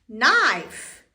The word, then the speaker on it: knife: n k is silent k is silent sh K and K is sh silent n e KN n e n i f knife knife no no I